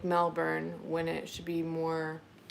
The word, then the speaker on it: Melbourne: The American accent overpronounces R. Sounds like Melbourne when it should be more said more.